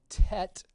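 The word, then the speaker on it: טית: The next letter is called tet. Tet is T. Hebrew has a lot of T sounds in it. And the way the printed tet looks is something like this, kind of a horseshoe look.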